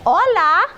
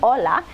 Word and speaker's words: hola: it goes like this hola got that down pat H is never pronounced in Spanish go straight to the Ola good morning Buenas and